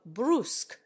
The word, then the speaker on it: brusque: to the you of brusque in America the word commonly rhymes with tusk eh you sound as